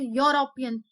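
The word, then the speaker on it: European: वैसे तो एन लगना चाहिए, मगर जब हम इसको प्रोनाउंस करते हैं तो यूरोपियन, यूरोपियन होता है, तो वहां पे वाई लगा होता है शुरू में, इसका जब हम प्रोनाउंस करते हैं तो वाई लग के आ रहा है, तो इसलिए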